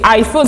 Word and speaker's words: iPhone: l'iPhone parce que c'est iPhone c'est en anglais le le i en anglais se prononce a c'est tout à fait